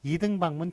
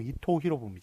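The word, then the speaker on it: 伊藤博文: 2개가 헷갈려 썼는데 아 일본 사람들은 일본식 발음 대로 만 쓰기로 했습니다 그래서 도요토미 히데요시 한번 맞고 풍신 수기를 틀립니다 이등박문 틀리구요 이토 히로부미가 맞습니다 이 to 히로부미 아니죠 이토 히로부미 줘 그것도 이제 작은 표기를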